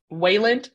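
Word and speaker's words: Weiland: um by K.M Wieland she was Wayland I think is how you say the name yeah the book is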